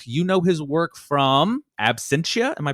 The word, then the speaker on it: Absentia: his own work you know his work from Absentia am I pronouncing that right yes Absentia Absentia Oculus geralts Gerald's Game which is based